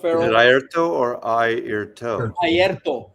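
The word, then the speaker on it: Airto: Ayrto. Yeah, you got to roll your R's, man.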